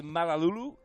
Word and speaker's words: Malalaulu: Yeah, I was told it is Malalaulu.